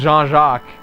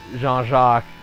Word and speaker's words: Jean-Jacques: It was Jean-Jacques, even though it looks like Jean Jacket, Jean-Jacques and Gillian is how they've pronounced them.